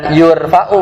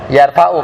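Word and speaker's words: يَرْفَعُ: Bukan yurfa kan, bukan yurfau bukan kan? Tapi bacanya yarfau fi'il maklum.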